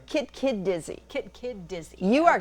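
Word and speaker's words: Kit-kit-dizze: Now, I'm guessing on the pronunciation. Is it Kit Kit Dizzy? Kit Kid Dizzy.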